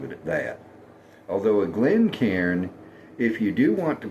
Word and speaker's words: Glencairn: And on a Glencairn glass, not Glencairn, Glencairn, 2 syllables.